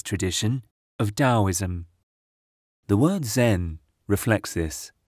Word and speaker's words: Zen: of Taoism the word Zen reflects this it is the Japanese Way of pronouncing the Chinese character Chan which itself derives from